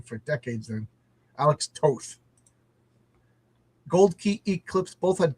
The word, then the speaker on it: Alex Toth: John, you pronounce Toth's name like both, not so it's Alec Toth. Is that how you pronounce it? I've been saying it wrong for decades. Then, Alex Toth.